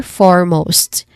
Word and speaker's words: foremost: So you try to put them together, foremost. As you can see, there's a silent letter in here, which is letter E.